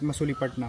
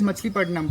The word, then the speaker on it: Machilipatnam: Yeah, because So- they pronounce like that, na. Yeah. That's why it is written like Masulipatam.